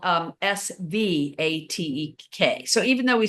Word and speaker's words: Svatek: Liz Back in the Svatek country, yeah. in Czechoslovakia, I'm sure that's correct. I mean, it's spelled with a V, but you pronounce it with the W.